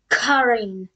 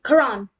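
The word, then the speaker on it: Chiron: It's actually... Karin. No, Karan. Karan.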